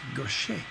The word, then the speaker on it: Gauthier: Now, this was written by Mary Gaucher, spelled Gauthier. So it looks like Gauthier, but it's actually French and it's pronounced Gaucher.